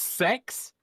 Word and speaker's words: CeX: Yeah, we don't have GameStop in the UK, but we do have CEX, which is it's it's pronounced sex. That's naughty, right? Um but uh CX I think it's called